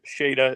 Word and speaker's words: Shada: Shada is how it's pronounced.